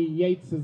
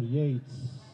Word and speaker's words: Yeats: Before I go to introduce our students to recite some of William Butler Yeats, by the way, the right pronunciation is Yeats, not Yeats.